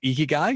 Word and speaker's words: ikigai: people find their purpose their icky guy right i said it right ikigai you did yes i've been practicing all